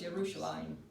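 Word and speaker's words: ירושלים: But that diphthong makes that a one whole syllable, but laim. But you notice they don't have the yod in here. That kind of makes it sound like it's lami, doesn't it? Okay? So that makes it a little bit harder to read because it's Yerushalayim.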